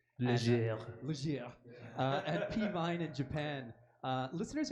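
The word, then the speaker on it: Légère: So the new album, Cure the Jones, out since April on, I always say it wrong, I'm pretty sure, Leisure Records. Leger.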